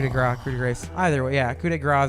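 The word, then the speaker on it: coup de grâce: Coup de grace is the way you would actually pronounce that.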